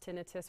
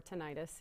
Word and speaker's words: tinnitus: know what she's describing is it pronounced tinnitus or tinnitus either way is correct and it can be